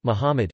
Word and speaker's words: Muhammad: Muhammad Arabic, Mumd pronounced Muhammad, c.